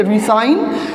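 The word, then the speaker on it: re-sign: Okay, अब देखो जो हाइफन वाला है, हाइफन वाला है ना, इसको हम लोग स से प्रोनाउंसिएट करेंगे रिसाइन, एंड जो विदाउट हाइफन है उसका हम लोग क्या करेंगे, ज साउंड से प्रोनाउंसिएट करेंगे, लाइक रिजाइन। Okay, रिजाइन।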